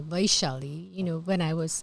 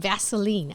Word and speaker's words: Vaishali: When you said Auntie, that's my American name because nobody can say Vaishali.